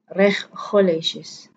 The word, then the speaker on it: regulations: Dan ini kita membacanya dengan regulations, regulations. Ada S juga di tengahnya dan menandakan ini adalah kata majemuk. Oke. Untuk regulations kita tidak membaca huruf G dengan KH, tapi kita membacanya dengan SY.